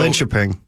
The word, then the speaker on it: Linköping: So Linköping.